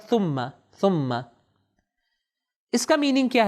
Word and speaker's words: ثم: صحیح ہم تلفظ کریں, ہمارے یہاں معمولاً اس کو تلفظ کیا جاتا ہے ثم, سین کا تلفظ, لیکن آپ جانتے ہیں کہ ث کا تلفظ عربک میں سین کے تلفظ سے اس میں فرق ہے. تو صحیح تلفظ اس کا ہوگا ثم.